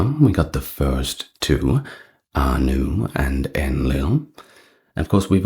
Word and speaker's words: Ea: he was often represented by a horned crown too, kind of like Anu, but perhaps not as grand.